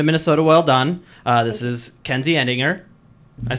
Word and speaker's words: Kenzie Edinger: This is Kenzie Edinger.